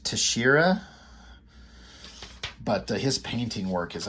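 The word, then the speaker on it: Texeira: I've been instructed his name is pronounced Tashira, but his painting work is amazing.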